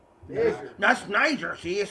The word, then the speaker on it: Niger: And then it's still, and even if you were pronouncing it Niger, which is erroneous, which is not right, which is not true, it still means the same thing.